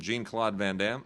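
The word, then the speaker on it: Jean-Claude Van Damme: everybody else mispronouncing it so Tim americanize it called call him Jean Claude vanam which I think is perfectly cool and fine uh that's exactly how uh you would pronounce it if you're americanizing it and that is what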